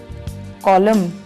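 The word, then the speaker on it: column: कॉलम, स्तंभ, autumn, पतझड़, इसमें एन साइलेंट है।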